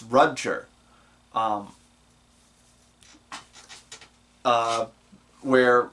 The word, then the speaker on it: Rudger: pronounce it it's it's there's a ongoing joke about it no it's not Roger it's rudger um uh where like